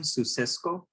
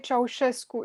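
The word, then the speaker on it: Ceaușescu: the overthrowing of the, what's his name, Susescu, or Nicolae Ceausescu is how you would say his name in Romanian. Usually in English they pronounce it Ceausescu or something of the sort.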